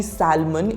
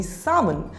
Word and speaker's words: salmon: repeat after me salmon the L is silent so it will not be salmon it will be salmon we have add grilled